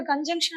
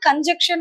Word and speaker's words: conjunction: இதுல யூஸ்வலா இந்த கன்ஜங்ஷனை நம்ம எப்படி சொல்லுவோம்னா கன்ஜக்ஷன் அப்படின்னு சொல்லுவோம். But look at the spelling, it's ஜங்ஷன். ஸோ அதை எப்படி ப்ரொனவுன்ஸ் பண்ணணும்னா கன்ஜங்ஷன், நாட் கன்ஜெக்ஷன். Okay, for instance I have